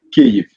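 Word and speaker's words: Kyiv: Tu habites depuis 24 ans dans la capitale, à Kiev. Je prononce bien, je ne sais pas si je prononce bien, c'est Kiev?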